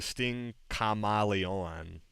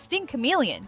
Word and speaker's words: Sting Chameleon: We're going to Sting Kamalon. That's how you say that, right? Sting Kamaleon. Seriously, it's Sting Chameleon. Did you even try to pronounce it correctly?